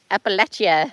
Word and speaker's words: Appalachia: Appalachia.